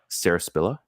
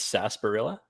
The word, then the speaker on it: sarsaparilla: look this up but I think it's sasparilla Sarsaparilla sounds right also yeah it's been